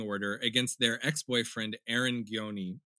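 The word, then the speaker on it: Gjoni: In September of 2014, Zoe filed a restraining order against their ex-boyfriend Aaron Gioni, or I think it's actually pronounced Joni, but I'm still going to say Gioni.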